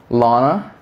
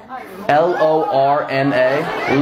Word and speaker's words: Lorna: be real be present what is your name Lana you're saying exactly what I'm saying Lana Lana did I not just say that spell it l-o-r-n-a Lorna not even a real name Lorna what's